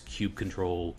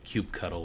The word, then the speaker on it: kubectl: And you can substitute the OpenShift OC commands with Kubernetes kubectl, kubectl, or kubectl, or however you want to pronounce that.